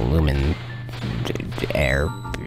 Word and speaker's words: Luminaire: them easily with the luminaire ik lumen air that's how you pronounce all right all right